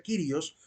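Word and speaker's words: κύριος: palabra se debe pronuncia kirios Porque esa letra que aparece ahí que parece u no es una u es una letra ipsilon y se debe pronunciar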